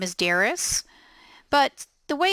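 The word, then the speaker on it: Darice: name my name is Daris but the way it's spelled dar I see E I get a lot of mispronunciations of my name I put in there that it's Daris rhymes with Paris now over here on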